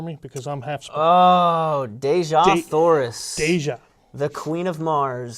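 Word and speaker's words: Dejah Thoris: But okay, you're gonna have to pronounce this for me because I'm half. Oh, Deja Thoris.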